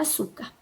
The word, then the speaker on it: açúcar: Bom, já descobrimos que a sílaba tônica da palavra açúcar é o su.